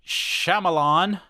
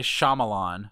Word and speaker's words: Shyamalan: uh I I think I always say Shyamalan yeah uh I don't know if that why is should be emphasized a little bit more but uh he's pretty